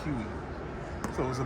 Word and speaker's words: Huey: was a uh1 age people just like pronounce that as Huey so it was a